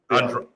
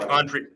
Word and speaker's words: Andriani: Mike Andri. Mike Andri. This has been Mike Andriani, the guest on the podcast, and this has been me, aka Mr.